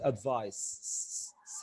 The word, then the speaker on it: advice: عايز بس اقول ان advice دي noun and it's pronounced advice sound.